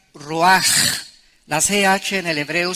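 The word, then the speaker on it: רוח: vientos es la palabra hebrea Roach qué se pronuncia raj la ch en el hebreo se pronuncia como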